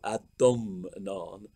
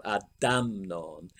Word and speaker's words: Adomnán: But anyway, academics insist on using the older form with an O.